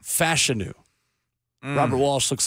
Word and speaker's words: Fashanu: over the weekend that we have been mispronouncing the name of a Titans offensive line Prospect all draft season did you guys see this missed it well Olu fashanu it is not fashanu Olu fashanu Robert Walsh looks like